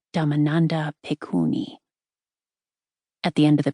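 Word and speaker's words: Dhammananda Bhikkhuni: The woman who uttered these words was venerable Damandanda Pikuni pronounced Damandanda Pikuni.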